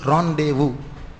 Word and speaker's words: rendezvous: அதுக்கு உச்சரிப்பு வந்து ராண்டேவு. The word which is written in this board is called rendezvous.